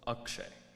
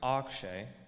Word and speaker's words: Akshay: but it's also akshay there are two ways it's pronounced and one way it is spelled you can pronounce it akshay like the majority of people who know me or you can pronounce it akshay like my close family members i used to think